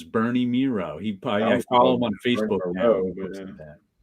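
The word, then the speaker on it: Mireault: It took me till 2 years ago to know how to pronounce Bernie Miro's name, which I always said Bernie Mirault. But it rhymes with zero, so it's Bernie Miro.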